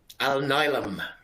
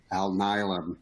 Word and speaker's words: Alnylam: How do you pronounce it? Alnylam. Alnylam, yeah.